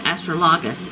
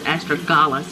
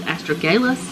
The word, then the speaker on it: astragalus: been saying it wrong I think I've been saying astrologous it's astragalus astragalus I don't know do